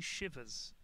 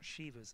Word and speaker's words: Shiva: is it really yeah my friend is from India he said that it's not shivas it's Shiva I could be wrong but he said it's Shiva people say Shiva because of Shiva I think yeah um